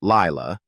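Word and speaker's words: Laila: In December 2015, Bulock revealed to People magazine that she had adopted a second child, a daughter named Ila, pronounced Laya, then 3 years old.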